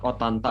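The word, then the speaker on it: ottanta: Yang tepat Otanta ya Kak.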